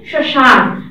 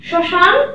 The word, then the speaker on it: শ্মশান: একই রকম ভাবে মফলার উচ্চারণ দেখো, শ্মশান, শ্মশান ম অনুনাসিক বর্ণ, যার কারণে আমাদের তালব্যের উপর চন্দ্রবিন্দু চলে আসবে।